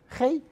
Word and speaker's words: Gé: introduction my name is hey it's a Dutch name if you're not Dutch is very difficult to pronounce but I listen to G as well is my family